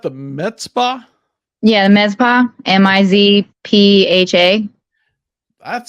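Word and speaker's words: Mizpah: Yeah, the med spa, MIZPHA.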